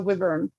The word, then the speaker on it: wyvern: which their crest was how'd you say it, Janine? The wyvern? Yes, I was going to say it right. Yeah, it was the wyvern.